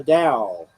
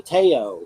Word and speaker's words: Tao: The Dow, the Teo. I used to say the Teo. Yeah, well, you were right. It's the Dow, isn't it? It's the Tao, and the reason for the different pronunciations of Tao and why that was called Tao, and it's actually Tao, is because Dow. it reflects uh, an older style of Romanizing, Uh-huh.